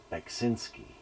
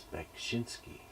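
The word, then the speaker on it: Beksiński: And then it's Bekshinsky, right? B with a K. Bekshinsky. I've heard Bekshinsky, and then most people pronounce it Beksinski. But I think it's Bekshinsky.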